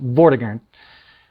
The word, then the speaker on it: Vortigern: it says um uh vortigern went to war with the saxon king hingst and then if you if you uh go in here then you uh that's not that's uh it's pronounced vordigan uh tyrant uh going